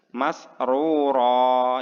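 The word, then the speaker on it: مَسْرُورًا: Masrura ya. Ro yang pertama dan ro yang kedua dibaca panjang satu ayunan.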